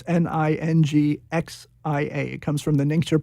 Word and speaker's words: Ningxia: Oh, you're saying ninja? How do you spell that? Ningxia. It's Ningxia.